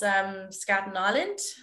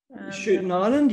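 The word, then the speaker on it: Schouten Island: And of course, Skouten Island. Shooting Island, yes. You're actually probably got closer to the Dutch pronunciation. I'm giving the Tasmanian pronunciation.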